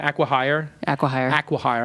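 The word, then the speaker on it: acqui-hire: right Aqua hire aquire Aqua hire I got to pronounce it correct like Aquaman aqua Aqua Velva and um so I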